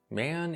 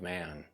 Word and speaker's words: Maen: My understanding is the brand name is pronounced like man, but with a slight E in there.